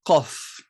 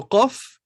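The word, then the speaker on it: قاف: Le Qaf, c'est pas le K, vous savez le prononcer, il se prononce donc légèrement, le Qaf, légèrement en arrière par rapport au K. K, Qa, K, Qa, K, il n'est pas dans la gorge, hein. Il est au fond de la bouche, presque à l'entrée de la gorge.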